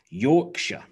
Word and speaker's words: Yorkshire: of like american states that end with shire but we re pronounce them sure can you think of any other examples okay so we have worcestershire worcestershire lancashire lancashire yorkshire yorkshire staffordshire staffordshire but